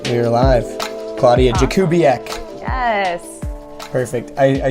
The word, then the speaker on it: Klaudia Jakubiak: So anyways, without any further ado, please welcome the travel critic herself, Klaudia Jakubiak. All right, we are live. Klaudia Jakubiak.